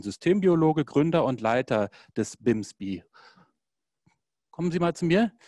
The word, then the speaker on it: BIMSB: Womit wir bei Nikolaus Rajewski wären, Systembiologe, Gründer und Leiter des BIMSBI. Kommen Sie mal zu mir. Ist es überhaupt richtig ausgesprochen, BIMSBI oder BIMSP? Ich sage BIMSBI.